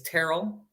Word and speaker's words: Terrell: I know it's Terrell. Sounds like it rhymes with Daryl, not Oh, yeah.